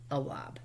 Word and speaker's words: Awab: And I know I just pronounced your name improperly. I apologize. It's Awab.